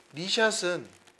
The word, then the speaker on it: knee shot: 니샷은 무릎샷이죠. 무릎샷. 옆에 보이는 영어로 보시면 KNEESHOT라고 써요. 니샷은 이것을 약자로 KS샷이라고도 하기도 하고, K가 묵음이기 때문에 이걸 NS샷이라고도 하기도 합니다.